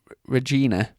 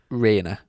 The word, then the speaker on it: Regina: And he's got it's Regina, sounds like hyena. Yeah. So if anyone wants a chain that you can laugh at, get a hyena chain. They are. Hey. I'm pretty sure you pronounce it Rainer.